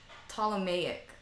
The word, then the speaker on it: Ptolemaic: it up on YouTube alone Ptolemaic that is so weird what it starts with the P ok so it's spelled PT Oh LEM a IC model Ptolemaic it's so weird ok